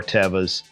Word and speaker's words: Teva: Teva, which we call Tevas, but Teva is correct pronunciation.